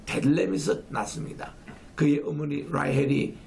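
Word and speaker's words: Bethlehem: 고향이 바로 에브라다라고 일컫는 베들레헴, 원래 발음은 벳레헴, 빵의 곳이라고 합니다.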